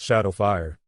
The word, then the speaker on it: XSH4D0WF1: Just wanted to say, it's pronounced Shadowfire.